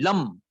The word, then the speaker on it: Lam: Okay, for the Muladhara chakra, you can say basic chakra, there is the Bij mantra La, but it's not La, it's actually Lam.